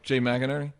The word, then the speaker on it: Jay McInerney: Jay McInerney.